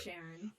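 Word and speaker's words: Charon: yes so but so it's that's how it's pronounced with the sh the ch the sheriff sharon but yes no uh you're right about this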